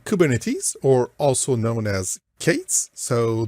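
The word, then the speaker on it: K8s: or also known as Kates so the letter K followed by the number eight so eight letters and then the number is and it's pronounced Kates so kubernetes is a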